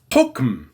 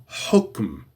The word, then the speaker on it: حكم: And pronounce the ha right from here. Ha. حكم.